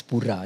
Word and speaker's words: Pura: Pura Cendana, so it's Pura, the right pronunciation.